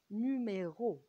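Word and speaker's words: numéro: إكزامبل مثلا زي نوميرو، نوميرو الأو مقفولة، نوميرو مقفولة، جت أو فينال نهائية فقفلت نطقها شوية.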